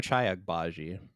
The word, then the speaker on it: Ochai Agbaji: Ochai Agbaji.